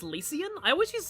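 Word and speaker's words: Lycian: Oh, it's pronounced Lucian. I always used to say Lysian.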